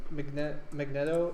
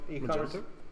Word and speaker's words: Magento: So Magneto is a popular e-commerce. Magento?